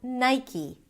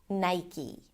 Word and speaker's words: Nike: Um, and therefore, people assume that it might be Nike, but in fact, it's pronounced as Nike. Nigh. I as in my, and then E as in C. Nike.